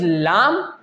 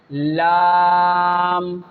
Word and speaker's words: ل: Lam, Lam, Noon, Ra. You can feel that when the tip of your tongue touches the upper gums, then these 3 letters will pronounce correctly.